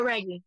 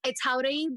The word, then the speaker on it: Jauregui: Well, it's JAUREGUI, but honestly you can just say JAUREGUI because I say JAUREGUI for American life anyway. Like I'll say JAUREGUI when I'm just like Lauren JAUREGUI. But like that's the proper way to say it.